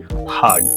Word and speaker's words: heard: আসলে উচ্চারণটা হবে হারড। অনেকটা বার্ডের মত।